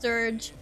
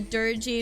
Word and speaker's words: Dirge: Apparently it's pronounced dirge. I didn't realize it was pronounced that way. I called it a dirgy in one of our raids, like on Discord.